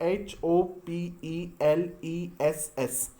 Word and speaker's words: hopeless: इसको आप होपलेस नहीं बोलेंगे, हम लोग इसको बोलते हैं होपलेस। तो आप लोग इसको होपलेस नहीं बोलेंगे, सही प्रोनाउंसिएशन इसका है होपलेस। क्या है इसका? लेस नहीं, लेस बोला जाता है।